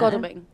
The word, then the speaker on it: Godalming: in Goldingham and Ash are saying that seat is too close to call right now. Godalming.